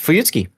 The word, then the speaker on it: Fuyutsuki: That's how it's pronounced. Fuyutski.